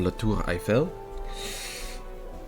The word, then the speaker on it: La Tour Eiffel: And then there was also that tower, that's like the Eiffel Tower. Or La Tour Eiffel. Depending on how you want to pronounce it.